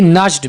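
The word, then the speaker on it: nudged: यहां पर हम डी को साइलेंट रखेंगे। ही नज्ड मी।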